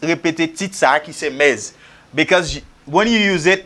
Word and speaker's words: Ms: It is pronounced as mez.